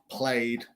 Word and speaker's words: played: Cualquier otra letra no pronunciamos el ed, pronunciamos solo el D. So, decided, D-E-D. Excited, T-E-D. Played. No es played porque es Y. We say played.